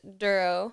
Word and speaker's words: Dorough: Yeah, it's pronounced duro. Like thorough. Duro.